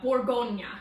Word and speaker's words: Bourgogne: The region, it's Bourgogne. Okay, so Bourgogne. I'm bad with the pronunciation, but I do know about Bourgogne because